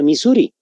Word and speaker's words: Missouri: en la parte superior misouri así se escribe No misouri pero se pronuncia Misuri el río Misuri Entonces es